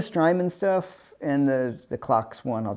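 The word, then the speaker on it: CIOKS: that they're from norway clocks i think it's pronounced clocks i think they have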